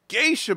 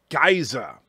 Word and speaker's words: geisha: in it Berta prey says the word Geisha however he pronounces it I believe guys ax and he had no